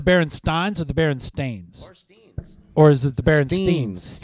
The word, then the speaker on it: Berenstain: Or Steens. Or is it the Berenstains? Steen. Is it Steen, Steins, Steen. Or Stains? Yeah. It's not Stain, it's Steen.